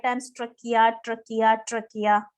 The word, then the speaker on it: trachea: You both say 5 times trachea, trachea, trachea. Say. Trachea. Again, you're repeating trachea. It is not trachea. Can you see N on that in that spelling?